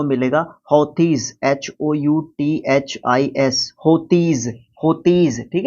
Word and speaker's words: Houthis: एक तीसरा वर्ड और आपको देखने को मिलेगा, हौतीज, HOUTHIS, होतीज, ठीक है।